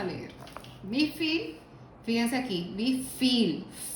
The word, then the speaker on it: wie viel: Wie viel, fíjense aquí, wie viel, la V como F, normalmente.